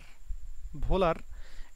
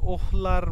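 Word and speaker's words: Wöhler: ঘটছে, এই যে ফ্রিডরিখ ভোলার এর যদিও এই যে এই উচ্চারণ কিন্তু আসলে মানে জার্মান ভাষায় এই যে ডাব্লিউ এর উচ্চারণ হচ্ছে ভয়ের মতো হয়। হ্যাঁ, এই জন্য এটা যদিও ওহলার মনে করো যে এরকম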